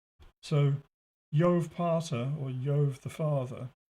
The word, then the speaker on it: Jove: jove yo the father the j is pronounced like a y in latin so yov parter or yov the